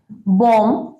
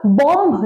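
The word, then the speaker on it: bomb: একটা ছোট্ট টিপস দিচ্ছি, যখন এম আর বি এই দুটো ওয়ার্ড যখন একসাথে থাকবে, যেমন ধরো বম, নাম, কম মানে চিরুনি, এইরকম ওয়ার্ড যখন থাকবে তখন কিন্তু আমরা বি উচ্চারণ করব না, বি সাইলেন্ট থাকবে।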